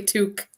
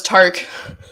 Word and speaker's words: toque: Yeah, and Americans say bag. Bag. And I say, oh, toque. Now say toque. Okay, I thought that was tark.